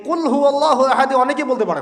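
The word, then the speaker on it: قل هو الله أحد: এটা উচ্চারণই বা কেমন করে করতে হয়? কুল, বলুন, হুয়াল্লাহু আহাদ, তিনি আল্লাহ এক। এই যে কুল হুয়াল্লাহু আহাদ অনেকেই বলতে পারে না। কুল হুয়াল্লাহু আহাদ, এটা কি সব একসাথে মিলে একটা শব্দ?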